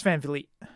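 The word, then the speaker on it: Van Vliet: is it Vliet I wasn't sure how to pronounce it uh Chris Van Fleet okay got it so he was doing an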